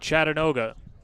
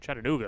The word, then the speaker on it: Chattanooga: two outs 5-2 lead chattanoga Chattanooga excuse me the scenic city I knew what you meant well I'm sure there's a whole contingent down in Tennessee saying he's not pronouncing it right we apologize we know it's Chattanooga Full Count off the